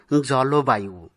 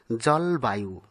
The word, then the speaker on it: জলবায়ু: আবার অনেকেই উচ্চারণ করে থাকেন জলবায়ু, কিন্তু এটি ব্যাকরণ সিদ্ধ নয়। ব্যাকরণ সিদ্ধ সঠিক উচ্চারণ হল জলবায়ু।